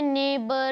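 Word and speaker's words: neighbour: अब आपको क्या करना है, यहाँ पे वर्ड बताना है के, यहाँ पे के जो है वो साइलेंट होता है। अब देखो इसमें नेबर, डॉटर, फाइट, स्ट्रेट, इसमें क्या हो रहा है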